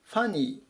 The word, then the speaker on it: funny: 最後 760 番です funny funny 発音に注意ですねここでフっていうふうに読まないように気を付けて下さいおかしいとか滑稽